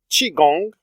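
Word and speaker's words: Qui-Gon: is a little complicated I think technically qui gonn should be pronounced Qi Gong in Chinese which means life force basically and gin comes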